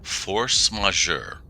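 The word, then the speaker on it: force majeure: M force majour.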